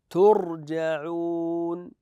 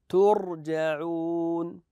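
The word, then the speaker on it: تُرْجَعُونَ: اقراوا لي هذذه الكلمه التاء عليها ضمه كيف اقراها احسنتم ترجعون نقراها ترجعون هكذا ترجعون لاحظوا هذه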